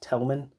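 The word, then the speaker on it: Thälmann: dots over his name his name is pronounced telman so these aren't the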